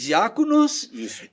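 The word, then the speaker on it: διάκονος: para o português lá a palavra diáconos é dita dessa mesma maneira pronunciada assim sim em grego se diz diáconos e essa palavra traduzida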